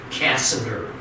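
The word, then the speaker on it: Cassander: the gentleman by the name of casa de casa der and casanare got the area of Macedonia and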